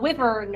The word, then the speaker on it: wyvern: But it was a wyvern or a wyvern. I don't know how you pronounce it.